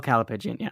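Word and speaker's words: callipygian: about you know writing how do you spell calapin it's spelled c a l l i p y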